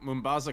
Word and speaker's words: Mombasa: Ooh, Mombasa, Congo. That's how you pronounce it.